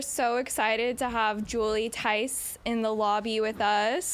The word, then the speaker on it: Theis: I feel like we we've been running around like maniacs today, but we're so excited to have Julie Ty in the lobby with us. The H is silent.